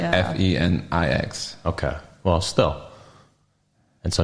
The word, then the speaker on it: Phoenix: It's Phoenix. It's like Fenix.